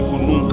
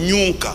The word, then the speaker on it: kununka: En Swahili on dit kununka, n'est-ce pas? Elles disent toujours nyunka.